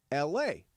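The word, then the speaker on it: Elae: Like, for example, there is a woman who named her daughter E-L-A-E. E-L-A-E. It's pronounced L-A.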